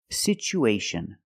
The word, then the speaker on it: situation: We see the T as a second syllable with T-U-A. So we pronounce it with the ch sound. It's pronounced situ, situation. One situation or two situations. So the second syllable is the long oo like boot and moon.